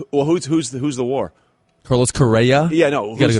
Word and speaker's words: Correa: But, we'll see how Carrera can come back.